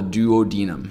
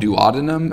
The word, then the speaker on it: duodenum: of the small intestine, which we call the duodenum, or sometimes called duodenum. I've heard it pronounced both ways.